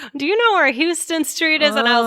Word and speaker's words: Houston: to say yes okay it is not like the state of texas guys like the city in texas it is houston street so so important because